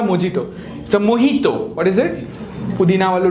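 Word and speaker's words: mojito: आपने ये drink order किया होगा पीपल से मोजीतो मोजीतो इट्स नॉट अ मोजीतो मोहितो what is इट पुदीना वालो ड्रिंक जवे मोहितो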